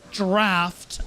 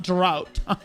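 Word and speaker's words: draught: Kind of like trying to police, like it's draft, not drought.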